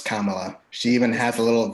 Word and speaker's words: Kamala: No, it's Kamala. She even has a little video that she has pronunciation for it.